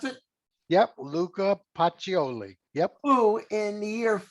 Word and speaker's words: Luca Pacioli: of luca pacioli is that the way you pronounce it yep luca pacioli yep who in the year 1494 published the